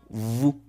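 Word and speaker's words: vous: de la letra s la s cuando se encuentra al final de la mayoría de palabras no se va a pronunciar por eso es que decimos Vu lo que es la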